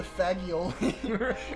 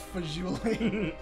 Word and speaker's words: fagioli: going to order the faggioli and she's like that's that's pronounced fuling and like I I